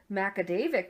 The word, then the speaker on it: Magaguadavic: Yes, because the next bullet I have says, the lake connects to Macadavic River, but what I love is Macadavic must be a Native American term because it's spelled Magaguadavic. Oh, okay, yeah. So it's one of those things that before, like, if locals aren't there, people will pronounce it super wrong, you know?